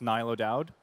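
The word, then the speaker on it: Niall O'Dowd: what is it yeah it's Irish what is the correct pronunciation oh yeah my name is nilo Dowd okay great so you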